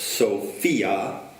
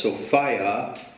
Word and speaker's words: Sophia: But of course, Sophia, which has the word fia in it, fear, whereas Sophia rhymes with desire.